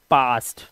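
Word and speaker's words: past: आपकी बदौलत मिल पाएगा जब ए के बाद एसटी या एस के आए तब भी ए का उच्चारण आ ही होगा जैसे पास्ट के अंदर पी ए ए के बाद एसटी आ रहा है तो इसे पढ़ेंगे पास्ट इसी तरह से यहां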